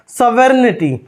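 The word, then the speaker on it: sovereignty: क्या होता है संप्रभुता यहां पर जो जी है ना इसका प्रनंसीएशन नहीं होगा साइलेंट होगा तो क्या पढ़ेंगे सॉवरेन्टी ओके नेक्स्ट है समाजवादी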